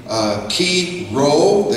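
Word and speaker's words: Chi Rho: birth of Jesus and we pointed out the key role and it looks like chimo but it's key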